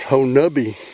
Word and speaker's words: Honobia: It's spelled Honobia, but he says it's Honubby.